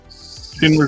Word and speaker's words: Schindler: Schindler's List? Yes. Yeah. The list. Say his name Schindler's. again? Schindler's. Shin, like your shin bone. Schindler.